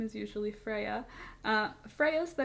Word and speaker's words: Freya: I don't know if I said either of those right, but I know Freya is pronounced Freya because that's what Freya's name is.